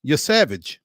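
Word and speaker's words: Yesavage: Trey Yavage. That's how you say it. It's just like it's spelled.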